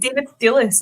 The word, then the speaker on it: David Thewlis: I thought, is it David Thewlis?